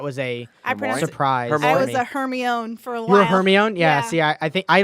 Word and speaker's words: Hermione: didn't pronounce it Hermione I remember how I pronounce it but I mean but that was a surprise for me own her me own yes yeah I think I don't know what